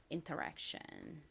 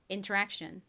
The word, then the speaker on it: interaction: interact까지는 똑같은데이 t 뒤에 i이 붙었죠.이 이 TI는 덩어리로 소리가 나니까 이것은이라고 발음해 주시면 됩니다. interaction.